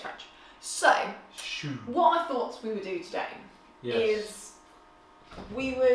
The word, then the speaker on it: choux: Not shoe as in your foot shoe, and it's not spelled like that either.